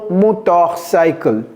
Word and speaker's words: motorcycle: j'ai écris ça alors il y a un r ici mais je n'ai pas prononcé ça vous avez vu j'ai pas dit M motorcycle vous voyez c'est pas motor c'est motorcycle motorcycle euh une trottinette trottinette